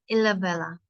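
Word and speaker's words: Ilhabela: Ilabella.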